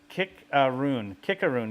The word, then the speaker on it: Cicerone: I mean, Cicerone. Yes, that's proper. Just like Willamette hops. That's the proper way to pronounce them.